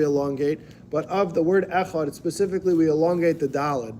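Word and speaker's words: אחד: The Talmud tells us that we have to extend the word echad. We have to say echad longer, right? We elongate our pronunciation of the word, either articulating it verbally or mentally in our mind.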